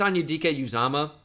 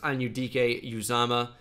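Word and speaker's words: Anudike-Uzomah: good athlete from VT Felix Anya DK uzama which is how you can pronounce it by the way if you did not know Felix anyudike uzama really really productive player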